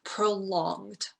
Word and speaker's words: prolonged: And then prolonged. So we don't actually pronounce that ED.